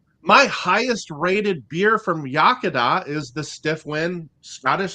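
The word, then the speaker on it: Iechyd Da: in Elkart Indiana we've got a brewery called yakada uh I can say it don't ask me to spell it yakada is really good I've been there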